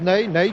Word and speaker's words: Pelé: jeune avançante brésilien n'aille cela s'écrit comme notre maréchal n'est mais ça se prononce Neil que voici sur votre